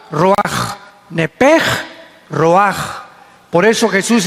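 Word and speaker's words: רוח: Se pronuncia la ch en hebreo como J. Roaj. Como J. Roaj.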